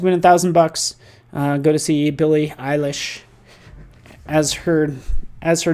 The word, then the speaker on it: Billie Eilish: Go to see Billie Eilish, as her name is pronounced, as I've just learned.